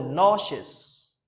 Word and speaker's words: nauseous: Nauseous. No, okay? Ou il y a là le prononcer tant que O. Okay, c'est no. Nauseous.